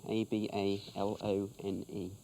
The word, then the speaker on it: abalone: A-B-A-L-O-N-E. John, please. Hobnail, as in boots. Hobnail. Yes. And what about this abalone? Abalone, actually, is the way it's pronounced.